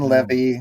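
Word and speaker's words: Leavy: one is amazing yeah Jane Levy spelled like heavy only with an L but she said that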